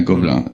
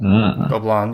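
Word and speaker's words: Gobelins: So, yeah, Gobelin, yeah. Gobelin, you pronounce it differently, I guess. Yeah, I kind of did the French twang to it because it just comes out of the mouth better. But anyways, the thing I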